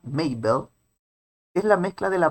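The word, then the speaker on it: Mabel: may del la hermana que se pronuncia maybelle es la mezcla de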